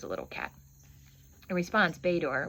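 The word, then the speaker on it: Bator: In response, Bor, which is spelled B- A T O R, jumped onto my padded silk trousers, needle-sharp claws, snagging a path upward.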